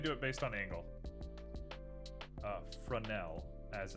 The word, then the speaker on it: Fresnel: Fresnel, as it's meant to be pronounced.